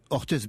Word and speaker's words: Orthez: Mais si je devais comparer peut-être Orthez à une... Vous dites Orthez, vous ? Orthez, bien sûr. On ne prononce pas le Z.